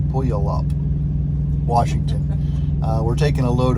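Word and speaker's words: Puyallup: way uh up to pulley up uh washington i don't think i pronounced that well or correctly pulley up p-u-y pull you all up pull you up washington we're taking a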